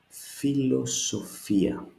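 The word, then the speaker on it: φιλοσοφία: It couldn't be philosophia, it couldn't be philosophia or philosophia. Why? Not because I say so, but simply because iota is accentuated, is stressed.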